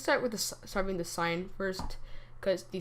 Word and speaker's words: sine: H here let's start with the serving the sign first cuz the sign is typically um when they're like I like